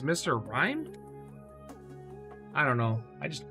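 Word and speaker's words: Mr. Rime: say anything else oh i also didn't realize the other mr mines i was getting were named mr rhyme and i've been saying it wrong many times i still hate it but apparently it's mr rhymed i don't know i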